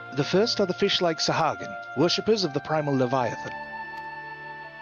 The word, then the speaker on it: Sahagin: So, she said Sahagin, so I'm going to go with that pronunciation. Okay. The first are the fish-like Sahagin, worshippers of the primal Leviathan.